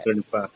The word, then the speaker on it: कृपा: भी गलती करता है दोनों को एकही ज से उच्चारित करता है कृपा कृपा जी तो ये चीज बतानी होगी व्यक्ति को कि दोनों के उच्चारण में फर्क है चीज को जाने